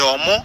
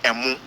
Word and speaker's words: Omo: It is the Akan people who say Emu. The Ghana people say Omo. That is why the pronunciation or the spelling is Omo, not Emu Tuwo.